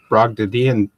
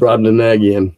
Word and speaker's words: Brobdingnagian: And maybe TotalCon prejudiced my eyes, but that's a Brogdadian. Can never pronounce that word. Brobdingnagian.